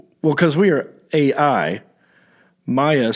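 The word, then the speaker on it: Maia: And he spelled it M-A-I-A. And, I was just reading this, so I said, nice, how do we pronounce this? And then he wrote, Maya. It's a variant of Maya.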